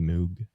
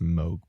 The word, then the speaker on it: Moog: It's the first synthesizer ever made was by the company Moog. It's actually pronounced Moog, I think, but Moog is a cute cat name.